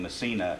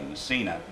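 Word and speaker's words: Micina: it up under the uh her stage name missina m m excuse me it's pronounced mcka it's spelled m i c i n a massina but you'll find her on uh on YouTube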